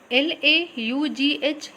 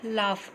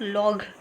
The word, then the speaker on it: laugh: Laugh, L-A-U-G-H, laugh, not log. Okay, don't pronounce it at log.